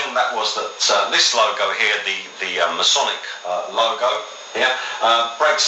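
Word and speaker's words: Χ: So the X, as you know, as the X in the Greek language, is pronounced as a he, and that's the noise that you use to explain that sound.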